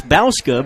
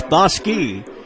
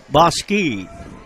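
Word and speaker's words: Bouska: The way this young man's last name is spelled looks like it's Bauska, but it's Boski. B-O-U-S-K-A. It's pronounced Boski.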